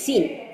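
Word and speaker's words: الصين: যেমন কিছু দেশ আছে চীনকে তো চ উচ্চারণটা হয়তো ইয়েতে নাই, অ্যারাবিকে নাই, সো চীনকে তখন আমরা বলি সিন, ঠিক আছে, সিন।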